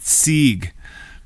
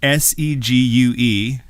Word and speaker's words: segue: should be pronounced segue well technically it's a French word hmm I'm speechless let's